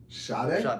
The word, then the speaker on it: Sade: So like, and it's pronounced Sade, by the way. Sade? Yeah. There's no H in her name.